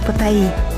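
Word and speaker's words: Паттайя: в северной части таиландское патай заметьте правильное произношение города Патая так как в тайском языке как правило ударение ставится на последний слог продолжаем храм был возведён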